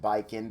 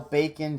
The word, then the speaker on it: Baiken: talk about bacon yeah I know it's pronounced baikin but still bacon just sounds a lot